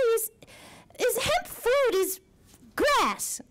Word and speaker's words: GRAS: is hemp food is grass I think it's pronounced grass generally recognized as safe and in 2018 you